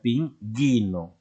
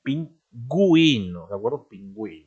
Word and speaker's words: pingüino: qué porque tiene diéresis si no pusiera tras esa diéresis esos dos puntitos encima de la u como celeridad sería ping ino y no se dice ping y no sería pingüino ahora hay otras muchas